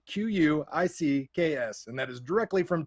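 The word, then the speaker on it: Qix: space invaders lunar rescue quicks it's actually pronounced quick kicks called kicks everyone calls it kicks but it is phonetically spelled in japanese q-u-i-c-k-s which would be quicks but literally yes on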